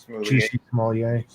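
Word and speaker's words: Jussie Smollett: Juicy Smollett.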